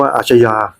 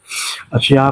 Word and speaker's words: อัชญา: ปรว ยุค หลัง นะ อ่าน ว่า อาชญา อัชญา เป็น เป็น คำ ใน ใน ภาษา สันสกฤต นะ ฮะ นะ ฮะ ซึ่ง ซึ ถ้า เป็น คำ ใน ภาษา บาลี นะ อ่าน ว่า อานา ฮะ อานา คือ ดิน แดน